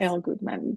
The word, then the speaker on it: Elle Goodman: with El Goodman and this is how I pronounced your name right yes El Goodman yes and thank you so much for joining